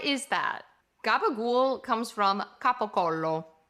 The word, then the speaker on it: capocollo: Gabagool comes from capocollo. But if you say gabagool in Italy, they will not understand you. If you want to be understood, you have to say capocollo.